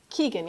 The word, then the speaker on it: Keagan: Did I pronounce that right? Keagan or Kagan? Keagan, yep, you're right.